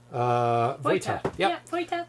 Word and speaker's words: Vojta: Vojta.